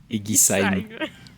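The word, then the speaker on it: Eguisheim: Notre premier arrêt se situe à Egisheim. Avec un S, pas un che.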